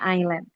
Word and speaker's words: island: We omit the word as ya. If we want to say island, jangan eh terkadang kan masih ada yang island kayak gitu ya. Nah, kita bacanya island.